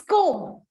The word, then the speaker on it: comb: Whatever is ending with B here, B is not having any sound in the pronunciation.